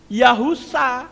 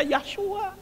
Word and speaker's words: Yahusa: Yod He itu dibaca Yah, itu betul. Tapi kalau belakang kata He ada huruf Waw, itu bacanya jadi Yahu. Shin Ayin dibaca Sa, jadi Yahusa. Nggak bisa dibaca Yahshua, nggak bisa. Kalau mau jujur dibaca Yahshua, maka tulisannya harus diubah menjadi Yod He Shin Waw Ayin.